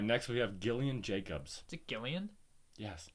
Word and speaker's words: Gillian: and she goes it's Gillian Gillian Jacobs it's Gillian this is Gillian Jacobs thank you oh so